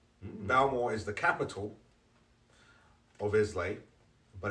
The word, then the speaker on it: Islay: actually very common because isla is the pronunciation but islay is the spelling i-s-l-a-y and it throws a